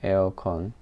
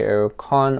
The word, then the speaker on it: 에어컨: in Korean we say 에어컨. If you say AC, we don't understand. If you say air conditioner, we don't understand. You should say aircon or aircon. Either way. 에어컨. Exactly the same pronunciation. 에어컨.